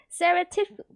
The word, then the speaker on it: surreptitiously: Surreptitiously.